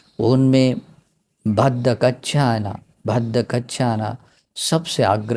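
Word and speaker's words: भद्दा कच्चाना: यहाँ भद्दा कच्छाना भी ये बोलते हैं, लेकिन यहाँ उच्चारण दिया भद्द कच्छाना, ठीक है, भद्दा कच्छाना ऐसे भी बोल सकते हैं।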